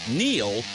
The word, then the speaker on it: Neil: It's no coincidence that Neil rhymes with deal, because that's something you can always count on with the leader in tires and auto repair for nearly a century.